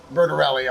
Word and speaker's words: Bertarelli: Bertarelli Cutlery. Wow. And like, I'll just say it's Bertarelli.